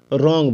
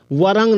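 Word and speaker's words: wrong: ठीक है ध्यान दीजिए डब्लू के बाद आर रह जाए तो डब्लू का उच्चारण नहीं होता है वहा आर का उच्चारण होगा जैसे डब्लू आर ओ एन जी रंग बोलेंगे वरंग नहीं बोलेंगे ठीक है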